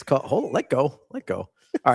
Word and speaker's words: calle: I think that's sitting here listening to you two try to pronounce Spanish words is hilarious. Oh, sorry, my favorite Puerto Rican. What is CALLE?